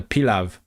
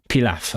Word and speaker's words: pilaf: What about the pilav? Polom. It's so weird. How do you pronounce that word actually? Pilav? Pilaf, okay.